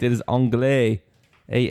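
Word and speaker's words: anglais: an answer Mike says angay ke says angay phonetically gross that is correct it is angay a n g l a i s oh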